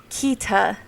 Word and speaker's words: Kida: rather her other names like Kida Harvey, pronounced Kita.